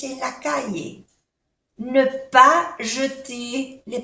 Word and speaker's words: jeter: Los verbos que terminan en ER se pronuncia E.